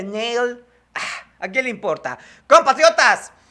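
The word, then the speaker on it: Nahle: unos me dicen que no se dice nale se dice nail A quién le importa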